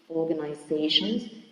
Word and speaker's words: organizations: next word is organizations organizations is stressed also in the uh the second before the end it is the penultimate syllable Manufacturing in the third